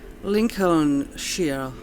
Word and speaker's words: Lincolnshire: Yeah, I'm sure it's pronounced she already at this point in time. It used to be sk in like Old German and Proto-Germanic, but the English like to palatalize stuff, so the sk from